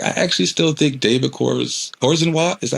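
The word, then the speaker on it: Corenswet: I actually still think David Cornswet, is that how you say his name? Cornswet.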